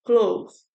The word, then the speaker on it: clothes: Então, temos ali, né, as formas de pronúncia, né? Sem a letra E, cloth. Com a letra E, clothes.